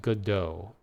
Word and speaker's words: Godot: Yeah, I'm pretty sure it's pronounced Godot. And everyone's waiting for the